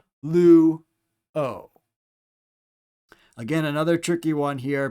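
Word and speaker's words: λύω: So lu is 1 syllable because it has 1 vowel, and o is its own syllable standing alone with just the vowel. Lu, o.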